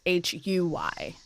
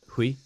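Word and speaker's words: Ke Huy Quan: It's Ke, and then it's Huy. Hui. Hui. Yeah. I think And then so. Kwan, I'm pretty sure is correct. So K.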